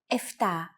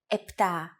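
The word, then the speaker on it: εφτά: Sometimes, though, especially in casual conversation, Greeks also use efta instead of epta, ochto instead of okto, and ennia instead of enea.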